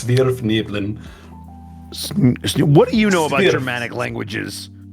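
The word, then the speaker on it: svirfneblin: It's supposed to be a Germanic pronunciation, so it's Svirfniblin.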